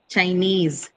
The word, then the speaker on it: Chinese: Here again, the stress is on the syllable carrying these suffixes because they carry long vowels and diphthongs in them. So e, right? Trainee, ease, Chinese, eek, right?